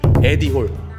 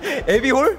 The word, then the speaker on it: 에디홀: 에비홀? 네, 아니, 에디홀, 에디홀. 에디홀, 발음 똑바로 하셔야 돼요.